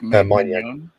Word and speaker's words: Maignan: Mike Maignan.